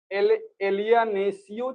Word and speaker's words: alienatio: ये एक मैगजिम, मैगजिम है एलियानेटियो, ALIENATIO, एलियानेसियो चाहे एलियानेटियो जो प्रोनाउंस करें आप, REI रेई, PRAE FERTUR JURI ACERESCENDI।